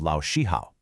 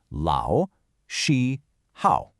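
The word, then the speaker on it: 老师好: So let's map out the tonal melody of Lao Shi Hao. Lao is a third tone, that's a dip and a rise.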